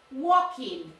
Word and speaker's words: walking: Walking. Repeat, walking. Esa L no.